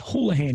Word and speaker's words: Houlihan: they're all good um yeah so it's hallahan your last name is that that's right yeah